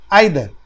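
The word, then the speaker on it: either: Each, every, नाइदर, आइदर। नाइदर आइदर बोलिए या नीदर ईदर बोलिए, दोनों सही है, दोनों तरह से प्रोनाउंसिएशन होता है।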